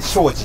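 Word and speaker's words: 東海林: これ東海林って書いて庄司って読むじゃないですか、はいは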